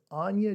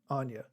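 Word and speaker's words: Aine: Her name is Anya Dean. It's A-I-N-E, Anya. It's spelled A-I-N-E, different.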